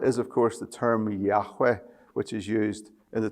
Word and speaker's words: Yahweh: Well, the Lord is of course the term Yahweh which is used in the 23rd Psalm. This is the covenant name of God. It's pronounced like a breath.